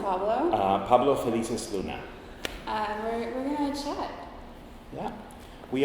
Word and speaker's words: Felices-Luna: Pablo Felices-Luna.